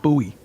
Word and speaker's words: Bowie: So that's why, um, he took Bowie like the Bowie knife. And actually was pronounced, you know, they the family pronounced it buoy.